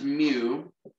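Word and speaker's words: μ: So this is mu, like kind of like, you know, kitty cat says mu.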